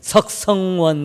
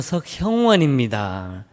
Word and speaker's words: 석형원: 심지어 제가 결혼할 때도 주례하는 목사님이 석형원 이래야 돼, 석성원 이래가지고 이름을 자꾸 하고, 또 가끔 이제 이름을 알려줍니다. 고객님 성함이 어떻게 되세요? 석형원입니다 라고 적기는 그려졌는데 발음하면서 석원형님 되시죠? 아니요, 석형원입니다.